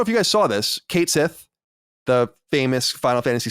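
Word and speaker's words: Cait Sith: that that that square enx has confirmed the pronunciation of Kate Sith as Kate Sith yeah well well I I don't know how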